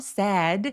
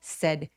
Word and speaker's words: said: sad 아니고 said 턱 거의 벌리지 않고 빠르게 said 해 주세요.